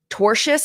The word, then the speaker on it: tortious: Tortious is how it's pronounced, Anna.